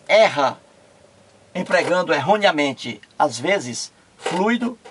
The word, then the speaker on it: fluido: sílaba fui retomo aqui o fluido é diferente fluído o fluido três sílabas fluido duas sílabas fluido três sílabas olha